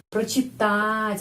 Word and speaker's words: прочитать: Menulis pro tapi bacanya pra karena прочитать penekanannya di sini karena itu O dibaca A.